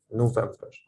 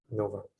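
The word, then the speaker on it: نوفمبر: Again, I say no because it's a long vowel, the wow, and then Vember. It's very, I pronounce it very quickly because there's just short vowels. Vember, November, November.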